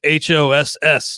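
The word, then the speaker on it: Haase: buck same with eric haas i've mispronounced his name before but i'm looking at baseball reference right now and it is h-o-s-s is the pronunciation which is perfect because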